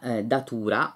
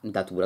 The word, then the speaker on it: Datura: sono bacche rosse pera Datura o Datura Datura dovrebbe essere perché l'accento non è sula che ho scoperto essere